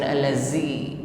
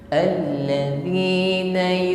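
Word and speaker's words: الَّذِينَ: Mengucapkan huruf zal ya, terlebih kasrah, jangan diucapkan dengan desis, bukan allazi. Allazi sifatnya jahar, tertahan nafas ketika mengucapkannya, tidak ada desis. Alladzina huruf wa ketika mengucapkannya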